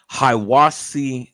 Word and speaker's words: Hiwassee: go back to that to get the right pronunciation. It was Hiwassee, Georgia.